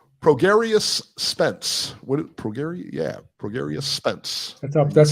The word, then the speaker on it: Prograis: Prograis? Yeah, Prograis Spence. That's how Spence pronounces it.